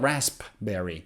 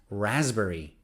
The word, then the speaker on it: raspberry: a fruit raspberry raspberry so it's not raspberry it's raspberry i love raspberry milkshake letter